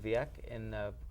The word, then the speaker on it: Vieques: interesting story on the island of Vieques off of Puerto Rico. I think it's pronounced.